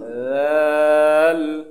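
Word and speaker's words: دال: দাদিদু দাদিদু দাল দা পাতলা হবে খুবই পাতলা দাল দা জিব্বার আগা উপরের দাঁতের আগার সাথে লাগিয়ে উচ্চারণ হবে এইভাবে আ ঠিক আছে আললা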